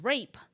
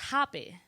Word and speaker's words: rapé: It actually spelled like as if it was rape. But the E has like a it's, you know, like it's just with the squiggly line, like, but it's pronounced Rapé.